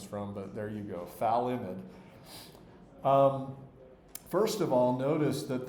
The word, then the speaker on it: phthalimide: molecule, which is called phthalimide. The pH is sort of silent. I'm not sure if you're supposed to pronounce the F and the TH sounds at once. Good luck with that.